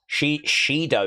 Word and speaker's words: Shido: Over goes Jakari by Sheido is how you uh pronounce it. Shido.